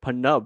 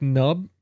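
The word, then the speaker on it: Pnub: I heard him called like Panub, right? Yeah, unless it's like nub, but the P is silent or something.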